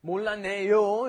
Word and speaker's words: 몰랐네: And then with the 몰랐네, another one you got to be careful of the pronunciation on. It's not 몰랐어요. 몰랐어요, when that 시읒, that double 시읒, 쌍시읒 comes before an N, it becomes 몰랐네. That turns into an N sound.